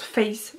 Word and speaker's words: Faith: fays j'adore ça s'écrit fait mais ça se prononce faith donc f haïté h irina pas l'inspiration à